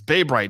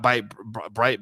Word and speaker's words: Bay Bright: it wrong bay bright it's bay bright not by bright bay bay bright is